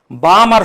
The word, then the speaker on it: Balmer: Balmer series, L is silent.